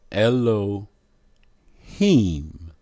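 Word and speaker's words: אלהים: their transliteration hello him what is the pronunciation ELO heem look at the Modern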